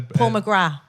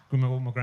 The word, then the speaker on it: McGrath: Paul McGrath who's the Paul McGrath Paul McGrath yeah we don't pronounce the th who was a uh